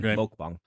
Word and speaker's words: mukbang: a mukbang Channel or I should actually pronounce it correctly mukbang but nobody says mukbang they all say Muk Peach smells kind of